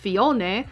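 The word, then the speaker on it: Phione: All right, so Fion. Fion. All right, so Fon, uh, which is the same in Japanese, but it's pronounced Fion, is known as the Sea Drifter Pokemon.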